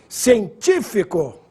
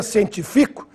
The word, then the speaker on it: científico: proparoxítona agudo no a científico com agudo no ID tífico proparoxítona P antepenúltima sílaba sem acento ficaria científico que é a primeira pessoa do singular do presente indicativo do verbo cientificar e por fim líquido